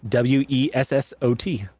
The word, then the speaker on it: Wessat: his name is Yetib Wessat, or Wessat, if you want to pronounce it properly in his Bolian tongue. Yetib is Yetib. Yetib. Wessat is Wessot.